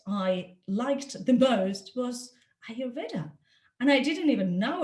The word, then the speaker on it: Ayurveda: it it says that you pronounce it like are you reader anyway so um